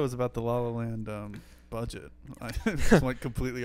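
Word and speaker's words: La Haine: Speaking of different movies, we're talking about movies here, and recently found out that you're not the Lahain is not pronounced Lahain. It's not, yeah. It's La N.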